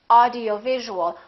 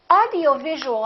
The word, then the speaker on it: audio-visual: word like this audio-visual audio-visual has six syllables audio-visual in that case you really it's very important to know which syllable is stressed in this case it's going to be right here audio visual audio visual how do we stress the syllable we make it longer and louder and higher in pitch audio visual now let